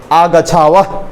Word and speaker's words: आगच्छावह: एकदम स्पष्ट, एकदम पंडित बन जाना है, ऐसे प्रोनाउंसिएट करना है, ठीक है। अवाम विद्यालयात आगच्छावह, आगच्छावह, ठीक है, पूरा एकदम ह तो ह निकलना चाहिए, आगच्छावह, उस तरह से